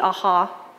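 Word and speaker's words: ajaw: ruler to the elite the aha is how you say it um what you had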